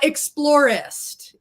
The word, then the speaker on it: Explorist: cheryl or whichever uh explorist is the pronunciation it is combination of explore and catalyst is how it came